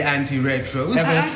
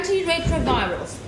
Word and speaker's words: antiretrovirals: I was a bit skeptical about the anti-retros. What? The anti-retros. The Anti-retros? Yeah. Woohoo! I'm against the 70s! It's antiretroviral. Sorry, how do you pronounce it again? Antiretrovirals.